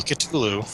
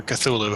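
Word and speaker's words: Cthulhu: also have a baby cthulu or cthulu however you want to pronounce it baby thulu yeah with the diaper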